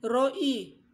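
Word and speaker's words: רֹעִי: my sheer Roy e Roe I shall not want kasi ang bigkas nian Hindi yan Roy ibig sabihin ro e yan ang bigkas niyan sa Hebrew sabihin niyan ay ito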